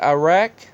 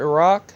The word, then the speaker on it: Iraq: A 4.1 in Mandali, Iraq, or Iraq, depending on your pronunciation.